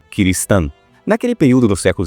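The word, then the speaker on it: Kirishitan: um ciristão, que é uma corbitela de pronúncia de cristão para o japonês. cristão Kristan.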